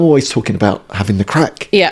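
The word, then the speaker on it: craic: So, it's an Irish word. So, spelled C O R O A I C pronounced crack as Andy has been pronouncing it.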